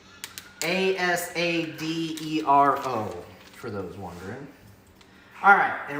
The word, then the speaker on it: Asadero: It's Asadero, for those wondering.